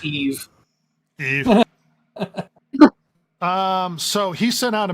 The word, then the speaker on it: Yves: I think it's Eve.